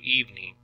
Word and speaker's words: evening: breakfast breakfast evening evening so you're seeing three syllables you're hearing two evening good every every so uh really you just kind of hear two syllables there every get oneself up